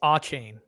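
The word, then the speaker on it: Achane: Will somebody please tell Ron how to pronounce A-chain? It's A-chain.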